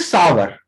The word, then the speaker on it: sour: This is सावर, नॉट सोर. इसको हम लोग सावर प्रोनाउंस करेंगे. डू you know about it? इसके बारे में जानते थे, इसको सावर बोला जाता है.